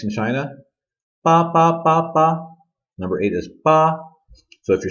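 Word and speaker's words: 八: this gun makes in China number eight is ba so if you're saying it right it should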